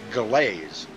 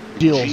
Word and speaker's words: Gilles: It looks like I would pronounce it Galaise. Galaise. Yeah, Galaise Villeneuve, but it's not Gilles. Gilles, yes. The G sounds like a J.